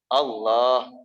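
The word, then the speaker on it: الله: Berarti berapa harkat? 2. Cuma cukup 2 ketukan. Tuk tuk Allah.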